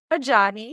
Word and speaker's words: Ajayi: Today, I'm really excited because I would like to welcome Vivian Ajayi.